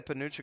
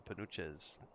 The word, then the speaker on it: panucho: Technically, a panucho can be a couple of different things. You know, panucho. It's very important in your pronunciation. Panucho is the food. The panuches. Lady parts.